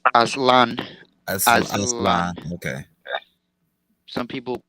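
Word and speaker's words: Aztlan: No, it's pronounced Aslan.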